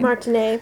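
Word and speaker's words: Martinee: his friend Louis Louis Martini I guess Martin is it look he actually he has a little little Accent on the end of his name so it should be Martin right Martine yeah okay so Martin a was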